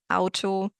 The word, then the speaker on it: Auto: And it's very tricky with words that do exist in English, like auto and August, and you want to say aw, but it's not aw, it's ow. It's always ow.